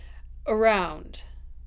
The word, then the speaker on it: around: If I go back to the count, my word stress is on that part of the word, right? So I put my stress mark there, but my beginning of the word is a schwa because it is unstressed.